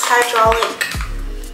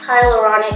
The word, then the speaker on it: hyaluronic: going to use this hydraulic H Hy hyaluronic I think I said it wrong the first time hyaluronic acid I said it so wrong I think I said hydraulic acid one thing that has